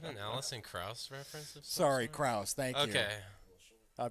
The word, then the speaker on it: Krauss: upay s style of music like yeah Allison Strauss is that an Allison Krauss reference sorry Krauss thank you okay I butchered it my bad no it's okay I'm